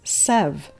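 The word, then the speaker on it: Sèvres: I've often heard it said as Sevres when historians are speaking of it.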